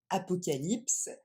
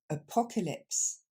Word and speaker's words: apocalypse: apocalypse et du coup ça va pas se dire comme en français apocalypse mais on va remplacer C a par le son e et ça nous donne apocalypse on y va lentement